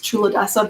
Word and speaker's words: Culadasa: name of the person who teaches that is true Odesa but it's spelled c UL a das I just grabbed